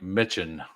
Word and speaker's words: Mitchin: Pronounced like Mitchin. Rhymes with bitchin.